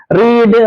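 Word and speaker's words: read: മാത്രമാണ് ലീഡ് ലെഡ് ലെഡ് റീഡ് റെഡ് ഉച്ചാരണം റീഡിന്റെ ശ്രദ്ധിക്കണേ past form past participle form spelling ഒന്നാണ് പക്ഷേ ഉച്ചാരണം വ്യത്യാസമുണ്ട് റീഡ് റെഡ് റെഡ് എന്നാണ് ഫീഡ് ഫെഡ് ഫാഡ് സ്പീഡ്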